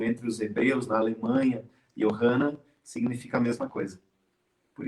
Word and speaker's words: Johanna: Johanna. Sim. Como se pronuncia de maneira correta esse teu nome?